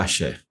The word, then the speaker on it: Aser: Aqui fica Axé. Eu falo Axé porque é a pronúncia que você aprende no hebraico, né?